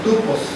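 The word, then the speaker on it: τύπος: pureza la palabra ejemplo es una palabra griega que se pronuncia tupos que significa modelo imagen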